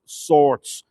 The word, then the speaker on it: Swords: s w r DS the W came uh into the word after the settlement of the English who wrote the name sword or swords s We R DS but do pronounced swords now St colum kill